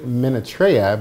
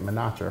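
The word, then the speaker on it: Minatrea: God's heart which is by Mildred I actually minute Raya because I've been pronouncing it Menaka for a while so thank you for the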